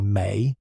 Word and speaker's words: me: The me pronounced approximately may refers to the fundamental